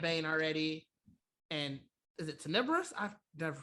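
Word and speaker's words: Tenebrous: vobols we said bane already and is it tenibrus i've never pronounced that yes you're right um and then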